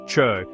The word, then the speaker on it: Chöd: Chud Tibetan gcod pronounced chud is a profound vajriana Buddhist practice from Tibetan traditions literally meaning to cut or sever.